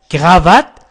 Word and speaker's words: cravate: cravate هو النطق الصحيح.